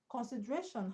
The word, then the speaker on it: consideration: Consideration has a stress on a which is second level from the end.